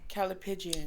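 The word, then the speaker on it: callipygian: Calipigian.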